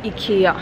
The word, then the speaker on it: IKEA: In Swedish we call it IKEA, so that's the correct pronunciation, but I have some things to do for my sister.